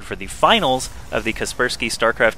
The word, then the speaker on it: Kaspersky: on my ass about how to pronounce kasperski he thinks it's kaspers sky that just seems weird to me so I'm just going to continue calling it kasperski anyway scrap station TVP